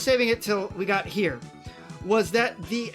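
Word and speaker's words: chi: And later on, they came up with the idea of this Chad right here. This is Grencye. Well, actually, it uses the Greek letter for X, which I learned is pronounced he.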